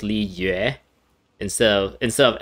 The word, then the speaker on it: Liyue: i understand is pronounced li yue and so instead of l i y and then u e as like the other syllable it's l i is one syllable and u e y u e is the other